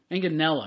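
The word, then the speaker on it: Manganiello: Manganella.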